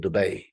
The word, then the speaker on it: Dubai: heard of this city everyone tries to correct me it's like this itch when I keep saying Dubay Dubay you got to go to Dubay people go that's not how it's said I'm like actually actually my family's from there so yes it is it's an Arabic word trust me go Google